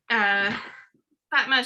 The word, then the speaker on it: Fatma: you remember how like the whole part where Fatma, she was seeing the how do you say her name, by the way?